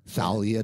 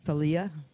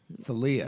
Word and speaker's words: Thalia: pronounced many different ways hell yeah or salia the people say salya I don't get that as much as I used to but um yeah Thalia Thalia yeah tell you is that it Thalia said it yep Chris